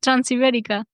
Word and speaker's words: Transibérica: Yeah, Transibérica.